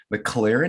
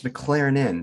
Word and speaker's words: McLernon: of jonathan mclaren i asked him how to pronounce his name and i thought is this like mclaren he goes no it's mclaren in so so we're on to the right something